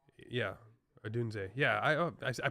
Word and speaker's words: Odunze: By the way, Dad, if you're watching, watch the highlights of Rome Odunze, Rome Odunza. E. Yeah, Odunze. Yeah, I pronounced it right, said it wrong.